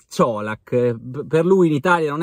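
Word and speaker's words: Čolak: già soprannominato coca-colack perché per noi la pronuncia era Kodak però abbiamo già visto diciamo nel video del presentazione del Parma che si pronuncia ciolak per lui in Italia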